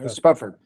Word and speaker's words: Spufford: Yeah, Uh, Spufford.